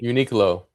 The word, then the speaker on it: Uniqlo: Is I don't even know how to pronounce this company. Uniqlo.